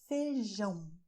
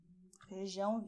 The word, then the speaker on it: feijão: So you have "ARROZ" "FEIJÃO". "FEIJÃO", very nasal, "FEIJÃO".